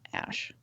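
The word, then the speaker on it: Æ: x-a-e or x-a-e-a-12 but the a-e is um pronounced ash i don't know how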